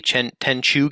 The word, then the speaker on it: Tenchu: my favorite series on the PS2 was the Tenchu games. Yeah, I pronounced it correctly this time.